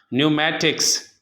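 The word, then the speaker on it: pneumatics: इसी तरह न्यूमेटिक्स, इल्मुल हवा को कहते हैं, तो एन से पहले पी है तो ये पी प्रोनाउंस नहीं किया जाएगा बल्कि लिखा जाएगा।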